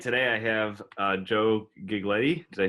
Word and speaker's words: Giglietti: today I have Joe gig lady they say right I forgot that it's okay it rhymes with spaghetti its like a spaghetti it's